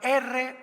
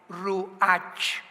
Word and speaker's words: Ruach: la palabra como suena, R-U-A-C-H, Ruach, que es la palabra hebrea que significa espíritu, y se pronuncia la CH en el hebreo como J, Ruach, Ruach, como J, Ruach.